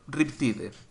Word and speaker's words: Riptide: Bueno, vamos a pronunciarlo español, Riptide. Para que me entendáis, no voy a pronunciarlo tipo inglés porque...